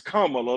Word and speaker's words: Kamala: Her her that's Her little niece even said her name is Kamala, like a comma.